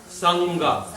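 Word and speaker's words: saṅgha: But if you put it next to the ga, sangha.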